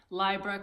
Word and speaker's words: Libra: wasn't in 19 yes I'm pronouncing lie bruh correctly and I picked this